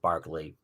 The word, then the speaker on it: Berkeley: An Irish philosopher named Bishop Berkeley, or looks like Berkeley, but they pronounce it Berkeley.